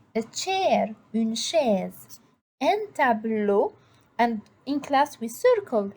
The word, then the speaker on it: tableau: In class, what we did, we circled EAU, EAU, and we wrote that EAU ou bien EAU en français, it is O. So when I pronounce the word, I say un tableau.